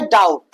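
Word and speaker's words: doubt: B silent होता है तब जब बी आया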